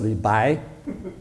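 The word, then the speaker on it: 李白: No, not Li Bo, it's Li Bai.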